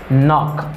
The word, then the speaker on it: knock: Knock.